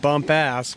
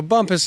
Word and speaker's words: Bumpus: As you spell it on paper, I mean, some people might read bump ass, but I'm glad you said it. Not me. It could be frowned upon. So Bumpus is what the locals say.